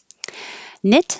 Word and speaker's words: knit: hear the k connect knit starts with a k but this k is silent so anytime you see the k n at the beginning just get rid of the k and make the end